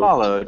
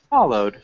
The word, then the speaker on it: followed: Followed. Followed. One syllable or two? Followed. Two syllables. Followed. Followed. Yes, but we don't have to stress in the second part. Yeah, so the first part followed. Is stressed.